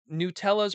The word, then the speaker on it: Nutella: Nutella's pronunciation again, please.